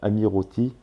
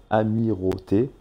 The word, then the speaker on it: Amirauté: Donc vous remontez et tout en haut du parc, donc à proximité du bâtiment Amirauti. Alors attendez, je prononce bien Amirauté.